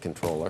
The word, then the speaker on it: Comptroller: Mis like the British it's a British word that they like did fake french on all right he wants